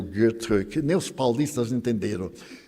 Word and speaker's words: Goethe: E existe Goethe, eu sabia pronunciar Goethe, antes eu pronunciava Goethe, mas eu tenho uma amiga suíça, e ela me disse, em alemão não tem os sons agudos, é Goethe.